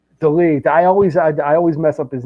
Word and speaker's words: Dolidze: How do you pronounce his name? Dolidze.